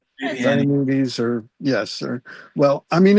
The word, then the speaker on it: Diomedes: Remember that early Woody Allen movie where he makes that joke about old Greek stuff where he makes up a name, diabetes? There you go. Yes. That's what Diomedes sounds like. Diomedes yes, or well, I